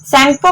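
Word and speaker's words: Tsangpo: शैंगपो कोमे कहउचंती T eighty silent अछि clear.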